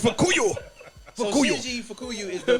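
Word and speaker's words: Fukuyo: In Just 'cause Japanese I can't accent, pronounce it as Fukuyu. It's Fukuyu.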